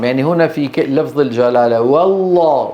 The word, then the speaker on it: والله: هنا في لفظ الجلاله والله والله والله الواو ايه مرققه واللام مفخمه لا يصح ان نقول